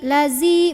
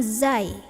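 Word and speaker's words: الذين: ketemu ujung gigi nah Biasanya apa yang sering salahzi lazi bukan Zi bukan Zai kalau Zai itu berarti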